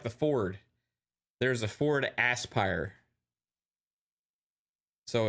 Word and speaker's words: Aspyr: it's interesting right um Jasper says I'm still saying it wrong Aspire this is a word Aspire definition direct one's hopes or Ambitions toward achieving something well they don't spell it like that they spell it like asper they spell it with s-p-y-r there's no e at the end they're confusing me with their spelling uh cleverness right so I'll I'll say Aspire it's like the it's